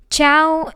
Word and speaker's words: ciao: Ciao is like the word chow fun, so it's easy.